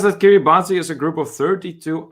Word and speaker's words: Kiribati: the dateline goes around it is pronounced kiribas oh that's interesting i just can't get over that you can stand in two completely different years at the same time theoretically malcolm says that kiribati is a group of